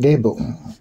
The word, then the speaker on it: Gebo: energy in the act itself this Rune is pronounced gabo the exchange of gifts whether physical or otherwise